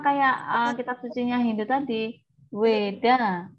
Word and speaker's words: Veda: Sama kayak kitab sucinya Hindu tadi, Weda bacanya, tapi tulisannya Veda ya, pakai V.